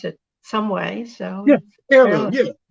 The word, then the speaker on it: H3irloom: So let's talk about the number 3 in your H3irloom Food Group, because you have to pronounce it some way. So yeah, H3irloom.